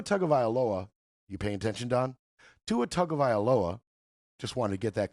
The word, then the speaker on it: Tua Tagovailoa: Tua Tagovailoa. Just wanted to get that clear how to pronounce that real quick.